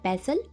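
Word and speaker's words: pestle: और pound crush पैसल जहां पे टी साइलेंट होता है इसको बोलते हैं पैसल और पाउंड फॉर एग्जांपल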